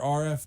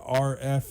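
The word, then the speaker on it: Arif: R.F. Dalvey, so I always say R.F. is the way to say that first name. It's actually A-R-I-F, but you pronounce it R.F.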